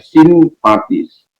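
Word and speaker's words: συμπαθεῖς: Yang kedua dikatakan oleh firman Allah, pades simpatis, ya, simpati, ya, dari kata, kalau dalam tulisannya sumpateis, tapi membacanya simpatis, yang artinya adalah seperasaan dengan, ya.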